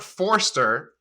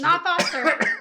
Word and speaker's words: Forster: forster and you know robert forster that's how you say his name this is his last foster it's forester robert forster he this is his